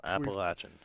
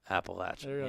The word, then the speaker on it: Appalachian: pretty cool shot here both pronunciations are correct so we don't need